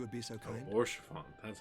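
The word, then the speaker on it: Haurchefant: Oh, Orchefon. That's how it's pronounced.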